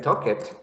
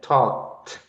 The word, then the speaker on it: talked: For example, if you have like talk, so you're not going to say like talk it. So you're going to say talked with the T sound.